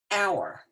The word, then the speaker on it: hour: to say for an hour okay because this is singular we your end because the H in our is silent you don't hear it you really hear that